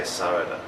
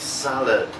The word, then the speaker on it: salad: Most Japanese people say sarada, but for a native English speaker it's very difficult to understand. The real pronunciation is salad, so that a d sound at the end. No da, but d, salad.